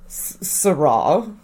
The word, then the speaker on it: Sarah: accusatory it's very sure sera that is how you pronounce my name sera your cross a